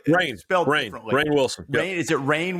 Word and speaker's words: Rainn Wilson: And the reason was the guy who played Dwight Schrute, do you pronounce his name Ryan Wilson. I don't know. It's spelled like Rainn. Differently. Rainn Wilson.